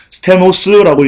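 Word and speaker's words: στενός: 여기서 좁은 문 할 때 좁은은요, 스테노스라고 읽습니다.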